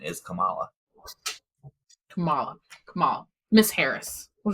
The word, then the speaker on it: Kamala: name is Harris people I kept hear people pronounce it Camila and I looked it up and the proper pronunciation is Kamala Cala Cala Miss Harris we'll just call her